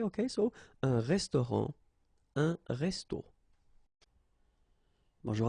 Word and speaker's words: resto: okay, but then, well, phonetically it's exactly the same, so un resto, okay, so whether with O or then with AU, but then it's resto, resto, the same way, okay, so un restaurant, un resto.